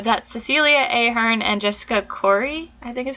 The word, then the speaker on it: Khoury: So I'm not sure if they really count in this scenario, but that's Cecilia Ahern and Jessica Khoury, I think is how you say her last name. Khoury.